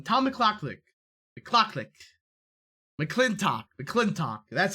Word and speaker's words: McClintock: a surprise one tom mclaughlik the clock click mcclintock the clinton that's how you say it mcclintock